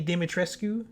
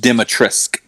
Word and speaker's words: Dimitrescu: So it's as far as I know, it's just Dimitrescu. Dimitrescu. Okay. I know the way it ends, the way it looks like it ends, but apparently you're not supposed to pronounce that part.